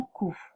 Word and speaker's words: coup: plus trop beaucoup un coup on entend pas le P genou une croix on